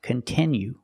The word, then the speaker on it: continue: to make content that you like it's not pronounced continue it's pronounced continue we have to use a